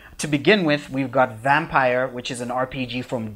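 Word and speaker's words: Vampyr: I feel like you should be saying it Vampire. Vampire. Yeah, because it's spelled with a Y, so we should be saying Vampire.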